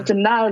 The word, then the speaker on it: Chhinda: So Chhinda, like, spelled like Chenda or Chinda.